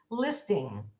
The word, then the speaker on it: listing: There's no G on the end of listening. It's an N made in the back of the throat. So it's listing.